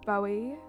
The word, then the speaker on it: Bowie: very true Utopia hasn't Bowie himself said his name David Bowie like bow tie I mean maybe Maddie